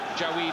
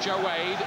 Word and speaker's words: Jawaid: 22 he's improved fast as jaed khik that's how he says we have to pronounce it not joed joed so we'll try to